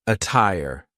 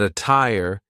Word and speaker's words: attire: The true t sound can also be used when there is a double t like in the word attire. But be careful because a lot of double T words will sound like a fast D. But attire is an example of a double T that sounds like a true T.